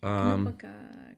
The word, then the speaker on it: Konopka: Konopka. It's Knopka.